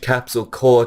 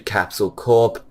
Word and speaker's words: Capsule Corp: my prediction is that they're going to change capsule core 2 capsule Corp because capsule Corp is short for capsule corporation and best use for